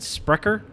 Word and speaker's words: Sprecher: Sprecher? We got Black Bavarian. By? That's a style lager. Sprecher. Sprecher. Yeah, that's Sprecher.